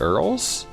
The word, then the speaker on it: URL: yeah because that's that is how you would pronounce it if you're like trying to just say it Earl I say URL but I have co-workers